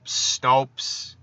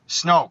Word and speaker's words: Snoke: Like, Snopes. Did I say his name right? Is it Snope or Snopes? I don't fucking know. Snoke. Holy shit. Wow, I was way off.